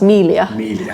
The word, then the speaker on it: Miglia: the Miglia, or I have been told it's actually pronounced Melia. Melia, I've been saying it wrong.